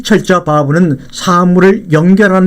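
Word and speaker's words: וָו: 이 자음을 바브라고 읽습니다. 이 철자 바브는 사물을 연결하는 데 사용하는 못, 갈고리처럼 보이는데 이것이 바로 정확한 이 철자의 의미입니다.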